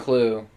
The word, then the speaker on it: CLU: There's Clue. Clue. He's the villain for this one. Yeah, and it's spelled CLU without the E.